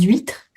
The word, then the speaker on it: huîtres: Des huîres on fait la liaison. C'est un hachmuet. Donc ce petit crustacé hein, les huîtres, les hanches à chaspirer, pas de liaison.